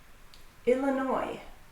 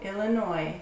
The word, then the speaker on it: Illinois: Illinois. Chicago, Illinois. So the name of the state has a silent S at the end.